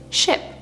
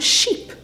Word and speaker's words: ship: A palavra de exemplo desse símbolo é ship, é navio. Porém, a maioria das pessoas vão falar essa palavra como sheep, porque elas vão ler o i como i, sheep.